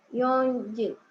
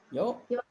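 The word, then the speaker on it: 四時: Yonji. Yoji. Ini Yoji ya. Jadi Yoji benar ya. Jadi jangan ada n-nya. Jadi kalau di jam itu nggak ada n-nya ya. Empatnya. Jadi Yoji gitu ya.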